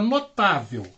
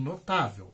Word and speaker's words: notável: recebem acento por exemplo a palavra notável e termina com l olha aqui e ela é uma paroxítona né última sílaba penúltima